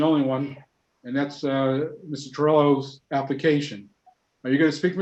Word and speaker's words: Torello: Am I pronouncing that correctly, Joe? Torello?